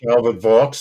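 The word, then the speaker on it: Calvert Vaux: Oh, was it uh how do you pronounce that? Calvert V Park. Calbert Vox.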